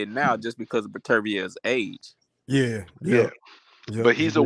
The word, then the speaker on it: Beterbiev: Like the whole the Beterbiev. I'm gonna pronounce his name correct. Beterbiev. Man, we call that nigga Better Beef. I know, but it's Beterbiev. Yeah, I know.